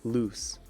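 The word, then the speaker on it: luz: Spanish for moonlight so laws is pronounced like loose Oh Luna loose I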